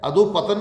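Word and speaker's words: अधःपतन: अधोपतन नहीं, शुद्ध है इसका अधः, विसर्ग लगेगा ध के आगे, पतन अधः पतन।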